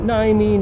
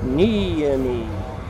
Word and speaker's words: Niemi: Like, he'd begin a lecture with, "My name is Professor Nemi, not Naimi, not Nemi, Niemi."